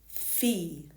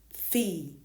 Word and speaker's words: fille: Here it is written with double L, fille, fille.